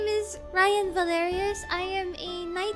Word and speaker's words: Raian: My name is Raian Valerius. I am a night VTuber. If you don't know who I am yet, yes, my name is pronounced like Ryan.